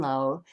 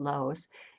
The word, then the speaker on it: Laos: when i was actually in low or some people pronounce it laos when i was there